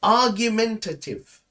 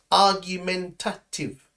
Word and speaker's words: argumentative: um with me uh you can say argumentative right argumentative so the last part is a little bit difficult tative argumentative yes this is someone